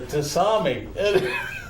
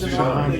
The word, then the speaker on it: tsunami: said, "You got to be careful with the tasami." And I said, "A what? A tasami?" I said, "Spell that."